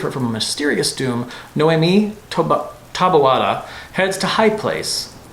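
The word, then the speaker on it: Noemí: Confusing names too many people mispronounce. Stay tuned to the channel to learn more. Noemi is how it's normally said. or Spanish, similarly, Noemi.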